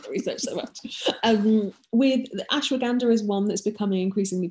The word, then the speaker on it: ashwagandha: Good, and I'm glad that you said it because I never know how to pronounce that word. It's ashwagandha.